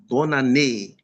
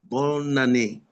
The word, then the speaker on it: bonne année: There's a liaison with N and A. Bonne année. Bonne année.